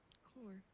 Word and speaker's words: Kore: Core. I know. Oh, Coronation. well, it's just what it's called. It just rhymes with my name.